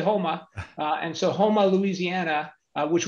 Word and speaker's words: Houma: You can't say Houma, which is how it's spelled. You got to say Houma.